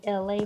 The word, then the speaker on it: Elay: It's me, LA, pronounced like LA, like the city.